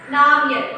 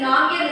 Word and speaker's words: Namgyal: He meets Namgyal. Okay, so Namgyal is a person. Here G is silent.